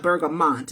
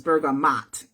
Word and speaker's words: bergamot: my bergamot, which is It's not bergamot, it's bergamot. Kind of M-O-T, but it's spelled, pronounced M-A-T, M-A-A-T, bergamot.